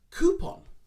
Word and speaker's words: coupon: actually used like that it's more of a coup like an elongated o a long o sound coup coupon coupon i have a